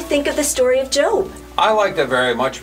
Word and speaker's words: Job: i thought it said job and since i wasn't looking for one i just totally ignored that book well rudy it's spelled the same but it's pronounced job rudy i hope you